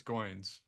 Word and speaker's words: Wayne Goines: Um, I was starting to mention Wayne Goines, and I heard somebody pronounce it Goins, and I believe it's Goins.